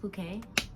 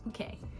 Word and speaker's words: Phuket: discuss my second week in puket Thailand it's pronounced puket uh it's not fet it's not it it's puket let's let's get that out the way right now it's puket so puket Thailand was a last minute in